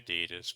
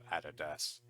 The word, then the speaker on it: Adidas: this one so yeah Americans say Adidas but Australia's always say Adidas hence where when I heard Americans say this for the first time I didn't understand at all what they were referring to because they usually pronounce it Adidas and in Germany we say Adidas Adidas Adidas but also